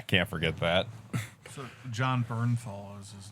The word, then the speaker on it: Bernthal: Oh, Bethanol. Josh Bethanol. Bernthal. I thought his name was Bethanol. Yeah, no, it's Bernthal.